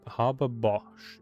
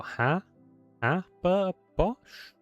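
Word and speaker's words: Haber-Bosch: how you pronounce Har Harbor Bosch is what I want to say. Har. Oh, hab Bosch. Habos, I think. So ha ha a bos like grabber but h h h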